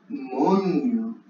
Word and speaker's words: moño: En espagnol, on dit moño. Moño. Avec ñ. Attention, hein. Avec ñ. Moño.